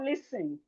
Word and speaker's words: listen: We have listen. Listen. The T here is silent.